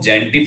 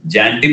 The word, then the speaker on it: Xantippe: quarrelsome woman को हम जैंटिप कहते हैं, जैंटिप मीन्स होता है लड़ाकू स्त्री, XANTIPPE, अच्छा शब्द है, लिख लो यार स्पेलिंग याद करो, XAN जैन हो गया, TIT हो गया और डबल PE जैंटिप, राइट एवरीवन, तो जैंटिप